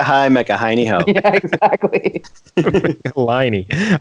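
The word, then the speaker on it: Michelinie: I believe it's actually pronounced David Michelini, if you can believe that. Yeah, they actually revealed that in the letters page of a Spider-Man comic. Okay. Michelini.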